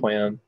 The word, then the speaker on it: QAM: Yeah, often it's pronounced QAM or QAM. But yeah, for QAM. Not can, QAM. It's not it's QAM. Definitely yeah. QAM.